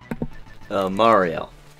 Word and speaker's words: Mareal: Now for how would your name be pronounced, Mark? Mareal.